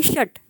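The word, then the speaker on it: षट्: याला पंच म्हणतात पंच आणि हे षट शटचा जो ट आहे तो तुम्हाला अर्धा प्रोनाऊन्स करायचा आहे कारण तो हलंत आहे तर हे झाले दशपर्यंत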